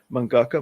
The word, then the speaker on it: mangaka: Uh manga Maga or Manga mama I should say mangaka mama yeah there we go something like that it's got like extra syllables in it yes she's s